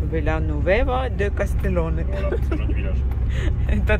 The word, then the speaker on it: Villanueva de Castellón: Villanueva de Castellón. Oula, comment? Villanueva de Castellón. Villanueva de Castellón.